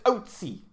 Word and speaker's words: Ötzi: to say, but it's Ötzi. That's how you say his name in the native tongue.